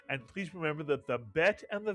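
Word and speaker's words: ב: The bet is pronounced as a B. Without the dog, this dot in the middle, it is pronounced as a letter V.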